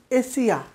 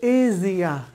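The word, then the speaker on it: Asia: Okay, the next, next হচ্ছে আমরা বলি এশিয়া, এশিয়া বলি, আমরা এশিয়ান কান্ট্রিতে থাকি, এশিয়া, এশিয়া মহাদেশে থাকি, এভাবে আমরা কথা বলি। এশিয়া বলে কোনো উচ্চারণ নেই, এটা হবে এজিয়া, এজিয়া, এজিয়া, রাইট।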